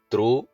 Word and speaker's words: through: നാം ഉപയോഗിക്കുന്ന വളരെ സാമ്യമുള്ള രണ്ട് വാക്കുകളെ പറ്റിയാണ് പറയുന്നത് ത്രൂ ആൻഡ് തറോ ഓരോ വാക്കുകളുടെയും ത്രൂവിന്റെയും തറോയുടെയും അർത്ഥങ്ങൾ കൊടുത്തിട്ടുണ്ട്